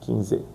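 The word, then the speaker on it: quinze: En portugués 15 es 15 15 es parecido, pero es con Z al final 15.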